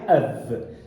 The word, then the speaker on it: of: Essa palavra se pronuncia of. Você vai juntar com L de plural, ó.